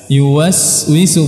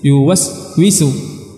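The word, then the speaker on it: يُوَسْوِسُ: dinamakan dengan rakhawah mengalir jadi kita harus mengalirkan suara kita saat kita mengucapkan huruf Sin yuwaswisu yuwaswisu ya yuwaswisu bukan yuwaswisu yuwaswisu tapi yuwaswisu jadi suara tidak boleh terputus ini namanya sifat rakhawah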